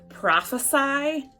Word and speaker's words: prophesy: know the difference between prophesy and prophecy. They're spelled the same, but the noun and the verb are pronounced differently.